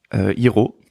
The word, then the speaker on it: Heero: producteur sous le nom que je te laisse prononcer. Hiro.